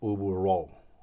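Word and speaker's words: Ubu Roi: Well, the original title is Ubu Ro. I guess it's the right pronunciation in French, or Rao, which is king.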